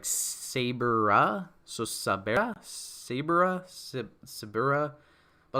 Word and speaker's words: Saber: saying it wrong like everyone's saying sabra sibera in the chat but like that's dumb it's saber with an a it literally makes her sound like mrs saber and i don't like